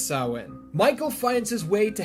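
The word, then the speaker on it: Samhain: Blood on the chalkboard Lumis mispronounces it throughout the whole ordeal Sam Hayne but I assure you it's sawin Michael finds his way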